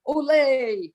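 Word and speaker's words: olé: The accent is on the first part, not the second part, like Americans say.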